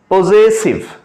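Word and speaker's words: possessive: প্রথম যে জায়গাটা জা উচ্চারণ হবে, তারপর একটা সা উচ্চারণ হবে, পজেসিভ প্রোনাউন।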